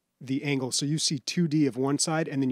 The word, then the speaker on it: Toodee: top d and are 2d and top d and it's spelt like t-o-o-d-e-e but it sounds like 2-d and a top-d like 3-d i guess coming out